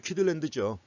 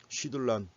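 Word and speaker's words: Kydland: 영어식으로 내 발음하면 키들랜드죠. 근데 이 사람은 네덜란드 사람이기 때문에 원래 네덜란드 발음으로 하면 쉬들란이라고 발음한다는 겁니다. 쉬들란.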